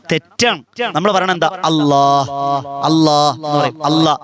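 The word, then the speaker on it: الله: അല്ലാഹ്. അല്ലാഹ് എന്ന് പറയും. അല്ലാ നിർത്തുവാണ്, പോരാ. അല്ലാ എന്ന് എഴുതുമ്പോ അലിഫ് ലാമ് ലാമ് ഹാ, ഈ ഹാ നമ്മുടെ കൽബിൽ വരണം.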